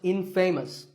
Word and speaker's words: infamous: for something bad but it's not pronounced in famous it's pronounced infamous alright I hope you